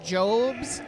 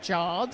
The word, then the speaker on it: Jobes: very much Darren for the pronunciation of jobes not jobs so it's Bill jobes